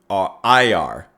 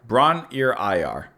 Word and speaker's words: Bron-Y-Aur: Bron, as in Bron from Game of Thrones, IR. Bron-Y-Aur. Bron-Y-Aur. Bron-Y-Aur.